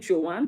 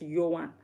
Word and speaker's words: Johan: So yes, in Dutch, J is pronounced Y. So we spell Johan. In English, you'd say Johan, but in Dutch, it's Johan. And in Dutch, yes is ja.